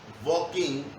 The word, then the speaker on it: walking: Walking, not walking. So the word is walking.